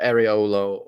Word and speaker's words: Areola: Or Areolo, however you pronounce his name.